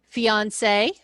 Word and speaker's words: fiancé: Those two sound exactly alike. One is just spelled with an extra E. The feminine is the extra E. So if you were a man and you were introducing your to-be wife, this is my fiance. And then you would turn around and say, oh, he is my fiance. Same pronunciation, just different spelling.